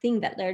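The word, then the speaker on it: Þingvellir: but sometimes it doesn't but anyway this is pronounced thing that they're National Park and this is like I mentioned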